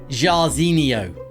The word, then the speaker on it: Jairzinho: His name rhymes with Ronaldinho. Team of the year, Jairzinho.